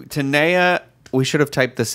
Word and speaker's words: Tenaya: questions about the pronunciation I say Taniya could be Tenaya could be those are it why don't we spell it out for the people at home E and a why a so I think that looks like tener Taniya but Morgan how would you say it uh Tenaya i guess okay alright so Tenaya we should have typed